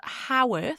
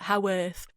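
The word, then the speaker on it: Haworth: I think that's how you pronounce it. I thought it was Hworth. You you spell it H A W O R T H. So I guess up north they call it how earth.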